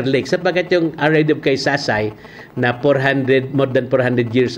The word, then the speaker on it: Kaysasay: By the way, Kasay-Kasay, yan ay ibundi yan, hindi lang ma-pronounce ng mga Espanyol, kaya naging Kaysasay, naging Our Lady of Kaysasay.